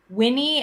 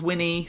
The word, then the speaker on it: Winnie: It's got like 2 syllables, Winnie. So like Winnie, it's kind of like Bonnie.